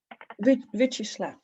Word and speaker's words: Vyacheslav: to Andre and forgive me if I don't pronounce it right. Vyacheslav? Vyacheslav, thank you.